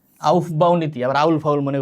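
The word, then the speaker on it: Aufbau: বিন্যাস্ত থাকবে ওটা কিছু নীতি আছে নাম কি আউফ বাহ নীতি আবার আউল ফাউল মনে করো না আউফ বাহনীতি এ অনেক উচ্চারণ করতে পারে না আউফ বাহ নীতি এর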